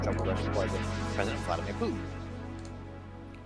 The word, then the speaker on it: Putin: Like Putin? P-O-O. Putin. Oh, I'm gonna put this exact quote in the Twitch chat.